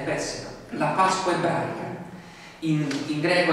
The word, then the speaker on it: Pesach: Di lì a 7 giorni si sarebbe festeggiata la Pesach, pronunciata bene, pessima, la Pasqua ebraica, in